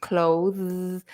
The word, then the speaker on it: clothes: word is the the long o like in telephone O So CL go CL like go as well CL and then you have to put the Z cloth put your tongue between your teeth clothes and then you have to make a z sound clothes so try that